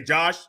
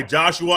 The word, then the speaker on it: Joshua: i want to say josh i like one syllable or shorter uh names but he does go by joshua and i believe in his twitter bio it he does say it's joshua not josh joshua perry is up